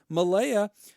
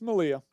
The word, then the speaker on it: Malia: Hot Dog Scoop, Malaya, or is it Malia? It's Malia.